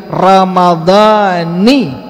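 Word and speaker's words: رمضانِ: Pengarang rahimahullah dengan jelas, dengan gamblang, dengan tegas beliau mengatakan fanunuhu maksuratun, maka nunnya dikasrahkan. Sekali lagi, fanunuhu maksuratun, maka nunnya dikasrahkan. Jadi bacanya, niat pembacaan niatnya nawaitu saumagadin an adai fardhi syahri ramadhani hadhihi sanati lillahi ta'ala.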